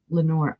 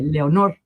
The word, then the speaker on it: Lenore: I have to make myself think because every time I see Lenore, I want to say Leonor. I want to give it the Spanish pronunciation.